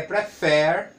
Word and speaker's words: prefer: Mas se você souber, no caso aqui, que é prefer, a tônica está na última sílaba.